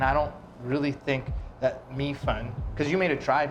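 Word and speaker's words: 米粉: Mi fen.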